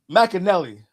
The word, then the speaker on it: McAnally: McAnelly. There you go. McAnelly. Think Nelly the rapper, just add Mac in front of it.